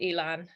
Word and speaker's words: Elan: expanding kind of um e-learners sort of am i pronouncing that about it by the way it's like elaine yes say however you want